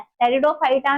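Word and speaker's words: Pteridophyta: ब्रायोफाइटा में शुरू हो चुका था और टेरिडोफाइटा में स्पेलिंग याद रखना टेरिडोफाइटा की स्पेलिंग टी से नहीं पी से स्टार्ट होती है और सडोफोडिया की स्पेलिंग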